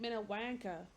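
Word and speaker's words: Minnewanka: She says Lake Minwanka.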